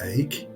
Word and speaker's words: Eyck: name of Van Eyck, which is pronounced Eyck and is Dutch for oak.